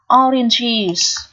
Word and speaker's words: oranges: Thứ nhất này, oranges. Oranges. Đó, ES ở đây được phát âm là âm is. Is ký hiệu sẽ là chữ Y một la mã và Z. Is.